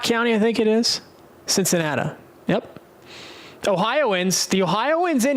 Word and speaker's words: Cincinnati: Just like Louisville is Cincinnati, it's Cincinnat. There'll be no arguments on those two pronunciations.